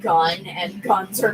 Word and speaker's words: GUN: These are gun robots. And yes, I'm going to just be pronouncing it as gun and not as G-U-N. Because, come on, that's just what it spells.